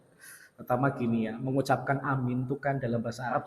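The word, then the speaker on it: آمين: artinya orang yang dipercaya tapi kalau dibaca panjang semua artinya ya Allah kabulkanlah doa kami Maka kalau kemudian ada orang ngomong Amin Amin Amin Amin maka dari pengucapan saja sudah salah yang bener itu dipanjangkan semua amin amin amin memang untuk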